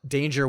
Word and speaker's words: Danger: intentionally um uh uh danger with a hard G um sometimes I forget